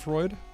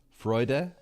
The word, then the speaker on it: Freud: Freud shot and Freud. Remember Eu in German is pronounced oi.